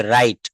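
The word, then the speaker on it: wrong: যেমন বলছে রং, ডাব্লিউ আর ও এন জি, এখানে আর থেকে বলতে হবে, ডাব্লিউ থেকে বাদ।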